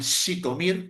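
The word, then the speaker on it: Zhytomyr: Está con las estampillas con la letra sh, esa es como la letra sh con Z, se pronuncia como Z, como en Shitomir, por ejemplo.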